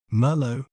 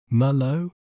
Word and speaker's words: Merlot: say its name correctly in British accent we may pronounce it as mow mow m low mow while in American accent we may pronounce it as Malo Malo m l Malo isn't it fascinating how